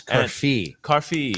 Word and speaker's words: Carfi: It's Carfi.